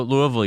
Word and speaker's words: Louisville: So Louisville, you said it right.